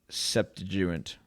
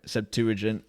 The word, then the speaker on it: Septuagint: use the old greek septuagint i'm not saying that right septuagint i think that's the right way to say it okay